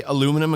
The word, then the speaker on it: aluminum: Canadians say aluminum and composite. It's actually Australians say it's actually spelt different. Aluminium and composite.